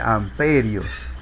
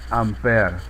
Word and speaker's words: ampere: Se simboliza por la letra A y no se castellaniza, o sea, no se dice amperios. Según las reglas que nosotros hemos aprendido, se debe llamar exactamente en su nombre, ampere.